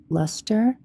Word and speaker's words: LSTR: Um, oh, I guess they're it's pronounced Lester. Probably Lester type replicas like